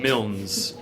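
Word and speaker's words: Milnes: Ash ash Burton crew spelled with an e at the end uh hyphen mils m i l n s mils um that's the actual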